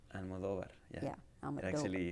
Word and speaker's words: Almodóvar: Almodóvar. Amador. Almodóvar. The emphasis is on do. Almodóvar.